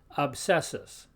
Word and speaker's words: obsessus: Now, here we pronounce, in Latin, we pronounce both letters, the B and the S. So this word here we pronounce obsessus. Notice you can hear them both.